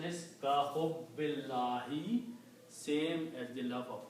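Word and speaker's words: كَحُبِّ اللّٰهِ: So the full pronunciation is ka hubbillahi, same as the love of Allah.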